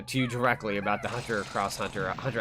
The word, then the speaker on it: Hunter x Hunter: one or the other I think it's pronounced cross but it doesn't really matter just depends on the person um but like I